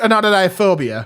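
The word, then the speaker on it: Anatidaephobia: It's pronounced anodophobia and it is the fear that somewhere out there in the world anytime a dummy may be watching you.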